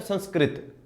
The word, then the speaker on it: संस्कृत: भाई क के नीचे ऋ की मात्रा लगती है। तो सही उच्चारण क्या? संस्कृत। कृत हुआ वो।